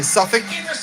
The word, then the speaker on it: Suffolk: Because I grew up in New York and Long Island, but now sometimes I say Suffolk, but it's really Suffolk. Suffolk County, Suffolk. It's like Suffick, or Suffic, Suffolk.